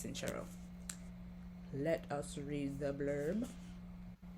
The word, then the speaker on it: Sincero: say her name because I definitely thought it was sincero but listening to the book it's sinchero let us read the